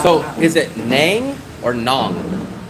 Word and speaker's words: Nang: But all I'm just trying to confirm is people try to tell me it's nang, not nong. I say it the way that rhymes with Hong Kong. So, I think it's d nong nong. But other people will say nang. And no locals that I know call it nang. They don't say nang. They say nong. Like rhymes with kong.